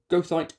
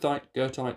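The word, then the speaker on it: goethite: So, goite, girth, girthite, however you fancy pronouncing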